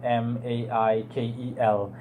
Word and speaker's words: Maikel: Pronounce Michael as in Maikel instead of Michael or Cheal, the way we're used to spelling Michael in English.